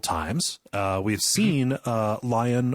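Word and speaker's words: Lyon: uh we've seen uh lion or Leon what do what do we want to say I want to say lion but I say lion I've seen people pronounce it as Leon Leon on you know on YouTube or whatever but I I'll say lion what I'm gonna that's what I'm gonna say when I see those letters yeah same lion lion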